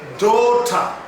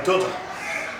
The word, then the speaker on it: daughter: word is pronounced as DOTA DOTA having the stress fall on having the stressful on letter d DOTA DOTA mark you there is a long vowel here dota so you can say my daughter my daughter not my